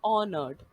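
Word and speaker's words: honored: तो बेसिकली यहाँ पे एच को प्रोनाउंस नहीं करना है, इसमें एच साइलेंट है, हेंस आप इसको बोलोगे ऑनर्ड, राइट?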